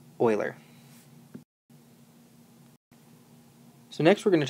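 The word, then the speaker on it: Euler: you remember the name Oiler even though it's spelled weird it is pronounced Oiler so next we're going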